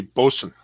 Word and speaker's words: boatswain: special boatswain double IPA correct way to say that is actually bosun okay I'll take your